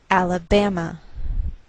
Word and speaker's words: Alabama: by a lowered mark so the greater stress is on this third syllable we say Alabama Alabama what else is